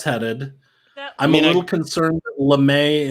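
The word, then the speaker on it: lamé: i'm a little concerned lemay in english it is it is spelled the same as lame and we want to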